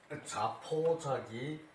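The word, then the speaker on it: 自暴自棄: 이제 저기 그 폭력할 때는 이 폭이라고 읽죠, 그죠? 그리고 저기 이제 그 외에 포악하다 뭐 저기 이럴 때는 다 포예요. 스스로 포기할 때 저기 스스로에게 사나운 것을 자포라 그래요.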